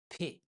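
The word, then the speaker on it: پ: If there are 3 dots, it's Pe, like p in French.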